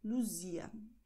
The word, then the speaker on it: Luzia: Und Z ist S. Das heißt Luz, Luzia.